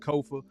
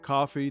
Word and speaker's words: Kofa: I am your host, Kofa, Kofa, not coffee, not, not kofi, or any variation thereof. Kofa, easy to say, easy to spell. Kofa rhymes with sofa.